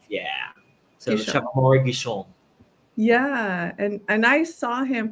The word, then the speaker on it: Amaury Guichon: Amaury. Yeah. So Guichon. Chef Amaury Guichon.